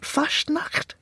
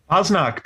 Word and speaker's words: Fasnacht: How do you pronounce that? Fastnacht? Fasnacht, yes.